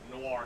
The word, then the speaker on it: Noir: I can see him playing a really fucked up, like, noir character. And I said it right. You did. Noir. There's no W in that fucking word.